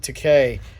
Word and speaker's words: Takei: George Takei, It Rhymes with Takei.